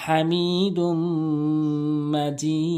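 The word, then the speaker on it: حميد مجيد: তিন আলিফ টানবেন এখানে হামজা এক আলিফ টানবেন ওয়ালা আলি ইব্রাহিমা ইন্নাকা হামিদুম মাজিদ এখানে গুনা করবেন আর হাটি অবশ্যই চাপ দিবেন অনেকে হামি বলে হামি দুম গুন্না করবেন মাজিদ এভাবে উচ্চারণ করবেন।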